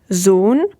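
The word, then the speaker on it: Sohn: it no it's not you would pronounce it zoon so when you see an s at the beginning of a word you have to be careful not to fall into the trap and pronounce pronounce it like the english s but more like a z zone okay let's move on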